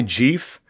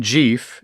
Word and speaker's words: Jeff: people you may know but they get your name wrong. They walk up to you and they say, "Hi Jeff, your name isn't Jeff.